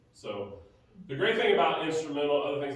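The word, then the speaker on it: Instrumentl: at New Life called Instrumental, although it's spelled weird. You know, Instrumental has T-A-L at the end, take the A out, like instrumental without the A at the end. So Instrumental. That makes it expensive.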